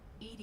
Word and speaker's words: EDI: a door why are you named Ed Ed is the phonetic pronunciation of Eed that is an acronym for